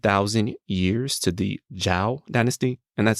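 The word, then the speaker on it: Zhou: back more than 3 000 years to the zhao dynasty and that's spelled z-h-o-u if you are really a history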